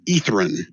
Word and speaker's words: Ythryn: Ythryn is how it's pronounced.